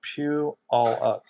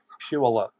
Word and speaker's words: Puyallup: It's pronounced Puyallup. Puyallup.